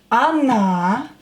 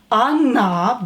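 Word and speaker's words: она: Ty, on he ona she. When o is not stressed, pronounce it as a. Ona, but stress this vowel.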